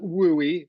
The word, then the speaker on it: WUE: talk about today um we all just call it wooy because Western undergraduate exchange is way too many syllables um and so we